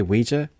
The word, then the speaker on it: Ouija: I see that word it's OA OA but you say Ouija the hell man okay